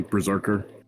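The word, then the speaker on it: BRZRKR: crowdsour or crowdfunded and it's spelled b-r-z-r-k-r but i would think that phonetically it would basically be berserker yeah um so the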